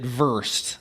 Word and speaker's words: VRST: I saw a video where they pronounced it versed, like first.